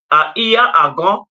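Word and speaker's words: Iya Agan: I am also Iya Agon, IYA, AGAN, or AGUN, based on where you are and the pronunciation.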